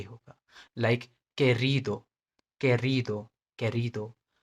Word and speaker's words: querido: सो जब भी क्यू दिखे इसके बाद ये दो दो लेटर इसके साथ जुड़ेंगे जुड़ेंगे, तो इसका प्रोनाउंसिएशन की एंड के होगा, like querido, querido, querido, quiero, quiero, quitar, quitar, क साउंड, ओके, क साउंड।